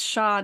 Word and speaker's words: Xia: It was Shaw dynasty, spelled Oh, Xia.